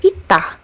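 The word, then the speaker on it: 있다: Similarly, this consonant is also pronounced as t as a final consonant sound, like in the word ita, which means to have.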